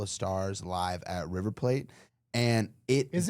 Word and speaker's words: Plate: But then everybody in the comments was like, no, it's in in Argentina they pronounce it plate.